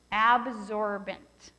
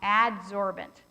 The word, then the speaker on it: adsorbent: for its weight and it is the strongest absorbent okay no let me say i said it wrong adsorbent i don't have it misspelled up there it's the strongest adsorbent